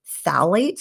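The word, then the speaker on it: phthalates: Another important hormone disruptor in plastics is called phalates, which is spelled with a silent P, so don't ask me to spell it right now, but phalates.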